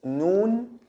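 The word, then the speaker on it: ن: The next one is noon. Noon, it's written like this when it's separate, and when it's connected, it's like this. Okay, noon, the N sound in English, no difference.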